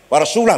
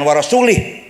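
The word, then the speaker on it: ورسوله: dan tidak melindungi rasulnya salah yang benar bacanya in melindungi orang musyrik dan Rasulullah pun tidak melindungi orang musyrik warasulah bacanya J warasulih maka lahirlah ilmu Nahwu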